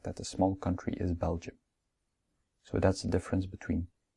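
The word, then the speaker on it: België: come even after that finally we pronounce belgium and not belgi because there's two dots on the e now let's see some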